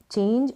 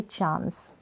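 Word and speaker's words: chase: चेंज हो गया और चेंज, और ये चांस, चेंज, चांस का मतलब अवसर और चेंज का मीन है परिवर्तन, बदलाव। ये है चेज, क्या है चेज, इसको चेस ना पढ़े, इसका प्रोनाउंसिएशन आप ऐसे ही ध्यान रखें।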